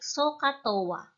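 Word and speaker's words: SOH CAH TOA: are the sign cosine and tangent it is pronounced a bit like sohcahtoa their ratios or cons are constant because the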